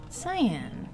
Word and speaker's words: Cyan: The Cyan... Oh, yeah. Cyan Kyan, remember? I was always doing that. Cyan, come on. His name is a color of blue. It's whatever you want it to be because English. English language weird. It's Kyan.